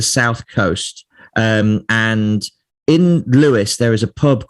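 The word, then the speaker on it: Lewes: pub in the uk there's a town called louis um and so it's spelt l-e-w-e-s and it's south of london it's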